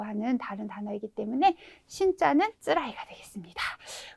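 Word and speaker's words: 辛い: 이거 매울 신자인데 괴롭다일 때는 그쵸, 카라이가 아니라 쓰라이라고 읽어주셔야 되겠죠. 또 여기에서 니가이는 뭐냐면 네, 니가이는 쓰다라고 하는 다른 단어이기 때문에 신자는 쓰라이가 되겠습니다.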